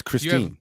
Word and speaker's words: Christine: here we have Chris Ste Lake oh it's Christine you have pson we have puton it's ptin